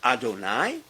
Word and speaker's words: Adonai: They both are pronounced adonai.